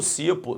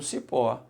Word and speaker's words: cipó: Aí, Alexandre, de repente, quando eu estava olhando, eu botei a mão no cipo. Não, você botou a mão no cipó. Então, se botou no cipó, é uma oxítona, ok?